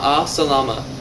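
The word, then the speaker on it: مع السلامة: that by saying Salam goodbye you pronounce that I say Salama another handy one to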